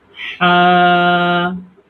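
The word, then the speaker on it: ح: নিচের লাইনটা পড়ি হ্যাঁ দেখেন এটা খুলে দিই হা হা হা হা হা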